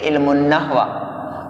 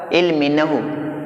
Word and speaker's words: علم نحو: املا اس طرح ہے۔ عربی میں اس کا تلفظ ہے علم النحو، اور اردو میں بقول میرے ایک باوقار، باعزت اور قابل قدر استاد، اس کا تلفظ کیا ہوگا؟ علم نحو، نہ کہ علم النحو۔